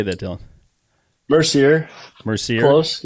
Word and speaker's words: Mercier: We are here today with Dylan Mercer or Mercier. How do you say that, Dylan? Mercier. Mercier. Close. Yeah, you said it like the French Canadians, Mercier.